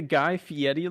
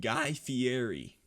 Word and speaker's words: Guy Fieri: I think the Guy Fieri look is gonna be insane.